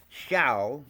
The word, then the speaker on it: Shao: Then Shao, like Shaolin, small forest or little forest.